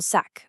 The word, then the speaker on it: sac: Pronunciation-wise, it's a crisp hard K sound at the end, sac.